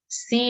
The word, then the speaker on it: psi: Ada sudut C di sini. Nah, ini bacanya C gitu ya, PSI tapi bacanya C.